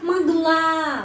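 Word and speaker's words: могла: penekanan ya muk citat ya magla penekanannya pada huruf a karena itu huruf o ini dibaca a mag a ya di sini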